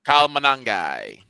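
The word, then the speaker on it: Kyle Monangai: In fact, the Bears had both uh I can't pronounce the fellow's name. Kyle Manangai.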